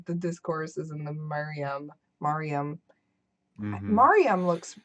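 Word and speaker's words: Maryam: How I pronounce it is Kanaya Mariam. Mariam.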